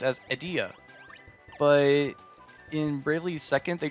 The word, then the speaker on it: Edea: Her name is pronounced as Edea. But in Bravely Second, they changed it to Idia.